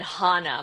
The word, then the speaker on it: Hannah: Dallas and I said I'm no longer. I'm now Hannah. Um I think I said Hana. My mom always says I pronounced it very interestingly, but I was like I'm Hana. And you I will not respond if you don't call me Hana.